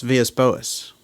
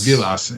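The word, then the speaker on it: Vilas Boas: And that is Villas Boas. Antonio Villas Boas, right. Or Vilas, you know, he's Portuguese although we all pronounce it as Spanish.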